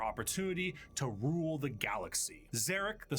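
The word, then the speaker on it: Szarekh: I like how the auto subs get the phonetic pronunciation of Zarek right, but that's not how it's spelled.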